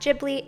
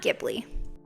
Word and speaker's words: Ghibli: to pronounce Studio jibli it is in fact jibli and not gibli but I don't think